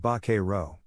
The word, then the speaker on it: vaquero: real fact the term Buckaroo is an anglicization of Vaquero pronounced very roughly like baker row it literally means cowboy